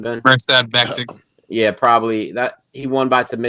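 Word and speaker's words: Mirsad Bektić: Mirsad Bektik.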